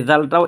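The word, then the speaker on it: ذال: হয়ে গিয়েছে আপনার জাল অর্থাৎ এই জাল হরফটা উচ্চারণ হবে এই যে সা আছে না সা যেই জায়গা থেকে উচ্চারণ হয় এই জালটাও একই জায়গা থেকে উচ্চারণ হবে যেমন নরম আওয়াজে কিন্তু ওইটা আর ওইটার মধ্যে পার্থক্য কি এখানে তিন আলিফ টানবেন জাল এই হরফটা দেখতেছেন না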